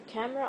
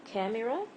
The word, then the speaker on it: camera: a new camera the camera of my phone is amazing and so on it's not camera it's camera so the e is silent maybe the is silent